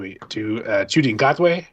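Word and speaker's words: Ncuti Gatwa: The current Doctor is David Tennant again, but then they're about to go to Chudi Ngotwe, I believe is how you pronounce his name, and he's going to be fantastic.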